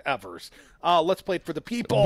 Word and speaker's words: Evers: the state of Wisconsin she mispronounced the boss's name Evers Evers she corrected it fairly quickly though yes but that the communications people that were in my periphery they were mortified I mean I bet they'd been coaching her all morning like eavers eavers eavers first first words out of her mouth Thank You governor-elect Evers let's plate for the